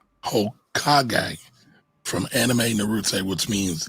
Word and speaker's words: Hokage: It's pronounced Hokage from anime Naruto, which means Ninja King or King of the Ninjas.